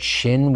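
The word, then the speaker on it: שׁ: of them for now just remember that shin with the dot at upper right is sh but sin is sinister with a dot at the upper left sorry southpaws and that is s when it's used as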